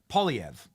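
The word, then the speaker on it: Poilievre: this dude named uh Pierre POV is the way you pronounce it and dude is uh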